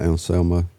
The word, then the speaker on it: Anselmo: Anselmo?